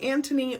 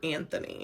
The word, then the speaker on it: Anthony: You can go by Antony or Anthony.